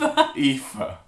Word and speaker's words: Aoife: Pronounced Aoife. Aoife.